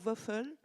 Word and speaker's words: Wölfl: Je crois qu'on dit Waffle, c'est ça? Bon, merci.